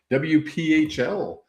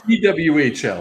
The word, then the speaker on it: PWHL: We went to the WPHL. Is that right? PWHL? PWHL. I knew I said it wrong.